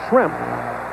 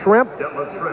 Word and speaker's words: Schrempf: So we have Schrempf. If you mispronounce it a little bit and call it Shrimp, and Bird, we kind of fish and foul.